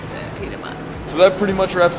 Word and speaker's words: Pita Mozz: M-O-Z-Z, but we pronounce it Pita Mozz.